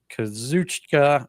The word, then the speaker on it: Kazuchika: The champion, Kazuchika, I can never pronounce the first name right. Sorry, Stampede. Kazuchika Okada, I think I got it right that time, will be defending against the Hounds of Hell's Brody King.